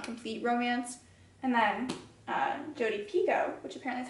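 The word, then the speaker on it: Jodi Picoult: like not a complete romance and then uh Jody Pico which apparently is how you say her name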